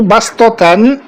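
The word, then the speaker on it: بسطة: ইয়াবসুতু বাস্ততান, এই দুটাকে সিন দিয়ে পড়তে হবে।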